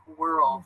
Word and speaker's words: world: year or two ago world is really difficult to pronounce so like were it's the it's the are LD I think world so lots of people